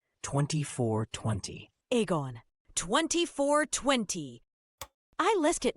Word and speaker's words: Egon: As I'm sure he'll be thankful for me to clarify, it's pronounced Egon. 2420. Egon.